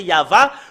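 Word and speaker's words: יהוה: hébreu tout à l'heure c'est yava quand on le prononce il a la première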